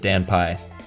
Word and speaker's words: danpy: I pronounce it danpy because it's my initials essentially.